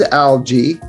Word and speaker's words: algae: one kind of G and I I say algae what's the correct thing it is algae but it's Al Alo in ter when you